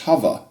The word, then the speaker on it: hover: hovercraft so that's an interesting pronunciation of hover as in hovercraft so Floyd says hover rhyming with like cover and brother and and it's interesting